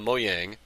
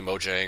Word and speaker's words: Mojang: was he left uh moyang as it's pronounced so people say Mojang or whatever I I call it Mo Yang but which I don't